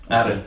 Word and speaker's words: Arran: Arran, sorry. Arran. Yeah, Arran. Arran. Accent on the second syllable.